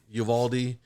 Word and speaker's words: Uvalde: talking about these cops over there in uh uvalde texas that's how you say it and uh